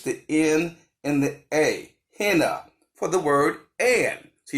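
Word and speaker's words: ḥnꜥ: ancient Egyptian language of the end is this pronounced henna henna so he would start with an H here's our H it's either a twine a rope or a hemp louder and then a in henna would be a water wave and then we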